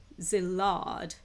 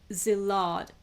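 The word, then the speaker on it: Szilard: few ways Einstein now I don't know how to pronounce this name s z i l a r d Zill right um I apologize for not being able to pronounce this name or shall I try and see if I can find the audio pronunciation for that okay I've just checked the audio pronunciation I think it's pronounced as zad now what are they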